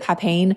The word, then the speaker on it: papain: The enzyme called papain. I pronounce it papain. I know other people pronounce it differently, but I love papaya smoothies.